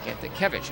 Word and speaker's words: Kantakevich: Kantakevich, I should say. It's taken me a few games to get his pronunciation down.